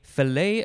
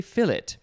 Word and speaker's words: fillet: a noun from 1930 a fillet of beef or is it a fillet i've heard both i think it depends on the spelling this is f-i-l-l-e-t but